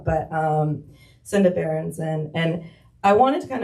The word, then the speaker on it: Senda Berenson: of women's basketball, uh Senda Berenson, I think that's how you say her name. I always want to put an R in there. I always want to call her Sandra, but um Senda Berenson, and I wanted to